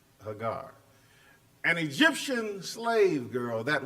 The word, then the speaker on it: Hagar: character by the name of Hagar some people pronounce it Hagar same person and it's really pronounced Hagar an Egyptian slave girl that was assumed during